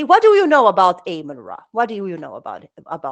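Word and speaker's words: Amun-Ra: Amen. Or Amen. Amen, right? But the real pronunciation is actually Ammon Ra. In ancient Egyptian, you will hear it like this: Ammon Ra, right?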